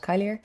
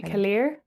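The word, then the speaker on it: Caliri: Kylier? Kaylier? Kaylier. Kaylier? C A L L I, yeah. Kaylier.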